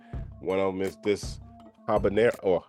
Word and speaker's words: habanero: of them is this habanero, or I guess your H is silent, habanero hot sauce.